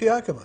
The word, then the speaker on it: Yakima: How do you pronounce it? I think it? It's Yakima.